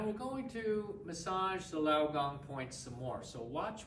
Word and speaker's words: lao gong: again we're massaging the lao gong points and it's spelled l-a-o word is g-o-n-g lao gong so we'll do two more pushes relax the